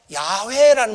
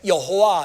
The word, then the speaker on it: 야훼: 이 그릭은 히브리 말로 야훼라는 말이 있어요. 야훼. 히브리 말로 야훼. 야훼라고 하는 말은 뭐 새로 번역된 성경에는 야훼 이렇게 많이 나오는데 옛날 성경에는 여호와 이렇게 나오죠. 여호와. 같은 말이에요. 발음이 좀 다르다 뿐이지.